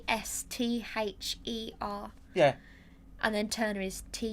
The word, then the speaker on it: Esther: I get people saying Easter or. Yeah. Well, I get all sorts, but so no, it's spelled Esther.